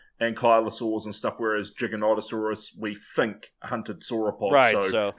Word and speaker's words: Giganotosaurus: your favorite dinosaur Giganotosaurus and I think I pronounce it Ro I used to call it gigantosaurus but apparently it's gigon yeah Giganotosaurus I think is how it is I've um